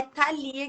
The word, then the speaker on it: Thalia: Oi, é Thalia que se pronuncia, né? Ali, é isso mesmo.